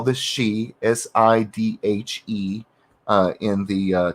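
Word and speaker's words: sidhe: what we call this she s-i-d-h-e uh in the uh celtic form it's always spelled s-i-d-h-e but it's pronounced she because that's celtic don't ask me i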